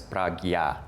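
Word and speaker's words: prajñā: And the Sanskrit word is actually also pronounced in 2 different ways. Y en sánscrito se pronuncia de 2 formas diferentes. So from Rinpoche, you might hear it as pragya. Así que Rinpoche probablemente, a veces lo pronuncia como prajya. Which is more like the northern Indian style of Sanskrit pronunciation.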